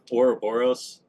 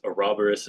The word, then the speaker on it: Ouroboros: So we say Ouroboros, but my understanding is Ouroboros is also a correct pronunciation.